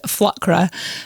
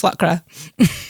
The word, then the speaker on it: Flükra: It would actually be pronounced Flkra.